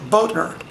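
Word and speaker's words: Bothner: Charles George Boettner. It's spelled B-O-T-H-N-E-R. We don't pronounce the T-H the way Americans do.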